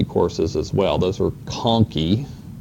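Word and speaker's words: conchae: or some people say conai AE on the end those are Latin words and the CH is pronounced with a K you'll run across that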